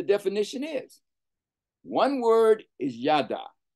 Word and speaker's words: yada: One word is yada, y-a-d-a, yada. Now, there is a y-a-d-a-h, which is different. They're pronounced the same way, but they're not the same.